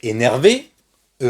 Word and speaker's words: énervée: Le son, la prononciation est la même, mais on écrit avec un E du féminin, d'accord?